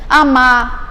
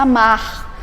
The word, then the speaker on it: amar: o Rzinho no final, já não se pronuncia o R, amar, eu vou amar. Quer dizer, se amar é no nível coloquial, é na linguagem oral. Mas quando eu vou dizer, eu tenho que me pronunciar amar. Essa pronúncia aí, ela tem que aparecer esse Rzinho para indicar né, o infinitivo.